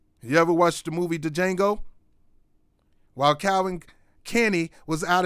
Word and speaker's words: Django: calvin kenny himself stephen from django or jingle whatever you want to call the d is silent here's the chairman of